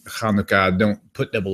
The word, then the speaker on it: Chanukah: A hey would start with an H, but a het would be more like a CH or something like that. Right. That's why most people spell it. It's like a German CH, a H. Right? Yeah. So that's normally why they spell it with the CH.